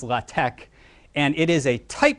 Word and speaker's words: LaTeX: listed down there is it looks like latex it's pronounced latch and it is a